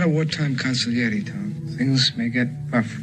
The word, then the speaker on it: consigliere: Yes, consigliere.